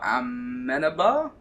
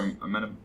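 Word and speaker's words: Amenábar: Alejandro Amenabar? There you go, have a crack at saying that. Yeah, Alejandro Amenabar. Amenabar. There's a bit of an accent on the A.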